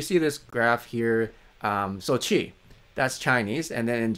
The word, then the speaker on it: qi: They pronounce it qi as qi, but it's not pronounced qi, it's actually qi in Chinese.